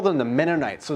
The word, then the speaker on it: Mennonite: Then they're like, no, let's call them the Mennonites. So it's actually a curse word. So how you pronounce it is like Menno, like a Menno. Mennonite, like night as in nighttime.